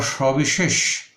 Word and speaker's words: সবিশেষ: আবার সবিশেষ, এই শব্দটি আমরা লক্ষ্য করেছি এখানে তিনটি স রয়েছে, দন্তস্ব, তালব্য স, মূর্ধন্য স, উচ্চারণ তালব্য স এর মতো।